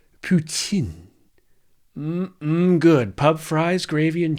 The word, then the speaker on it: poutine: Why would we rename poutine, or as the French inventors might pronounce it, poutine?